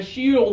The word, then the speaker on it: shield: me she yeah feeli there's two syllables there okay some people try to say this one too quickly and they actually entally say this one okay yeah so we got to slow it down Shield yeah feel those two sounds vary or the two syllables separately Shield okay many native